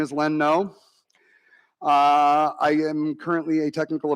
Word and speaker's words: Noe: my name is len no pronounced no opposite of yes and if you ask